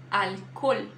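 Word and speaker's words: alcohol: da letra h Ah o som da letra h não o h não tem som em espanhol tá então alcol alcol ignora o h faz um o forte ali alcol emenda esses dois essas duas letras os aí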